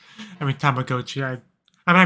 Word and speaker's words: Tamagotchi: Tamagotchi. I mean, Tamagotchi. I mispronounced it when I was a kid because I didn't know Japanese, but it's Tamagotchi.